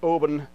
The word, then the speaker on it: Oban: okay let's talk about oben uh it is pronounced open by the way uh like open but uh with a b instead of a p and this is a